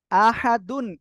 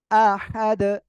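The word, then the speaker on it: أحد: সাকিন হলেও কলকলা হবে আহাদুন এর জায়গায় ওয়াকফ করলে আহাদ আহাদ ঠিক আছে ওকে আমরা এরপরে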